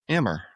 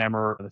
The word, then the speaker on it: Emr: I want to welcome today Emmer.